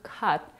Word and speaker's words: cut: It's the verb cut that is pronounced with the mid-central vowel, also known as the cup sound.